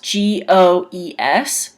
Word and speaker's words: goes: So even though it's spelt G-O-E-S, which if you were sounding it out, it would be go-e-s, it's pronounced goes. G-O-Z, goes.